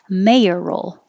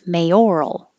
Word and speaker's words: mayoral: the first syllable it's mayor roll mayor roll with an a if it's on the middle syllable it's mayoral with an or mayoral mayoral race or mayoral race 20 both of these